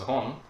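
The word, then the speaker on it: 本: fingers and surprisingly movie originally it is pronounced as hon but depending on the number for example Siri it changes to Boom this changes to Bone even if it's none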